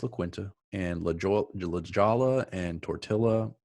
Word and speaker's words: La Quinta: I believe it's pronounced La Quinta. No, it's La Quinta.